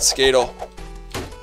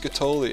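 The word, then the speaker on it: Skatole: No, we don't want Skatel. Thank you for no Skatel. Skatoli, Dan. It's pronounced Skatoli.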